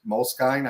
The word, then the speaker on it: Moleskine: um what's called a moles Moleskine I think is how you pronounce it but essentially for any